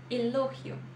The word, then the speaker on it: elogio: próxima é bem diferente elogio elogio em português elogio tá então aqui a gente também Claro tem a questão da letra g que é pronunciada diferente né como se fosse o som do rr isso a gente viu